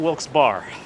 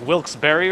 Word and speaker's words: Wilkes-Barre: Because we just discovered that it's not Wilkes Bar. It's like Wilkes-Barre or something.